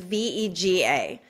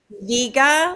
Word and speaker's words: Vega: And the spelling is V-E-G-A. So do you pronounce that Vega, like vegan? Right. Veja, like vegetarian, right. Or Vega, like the 70s car?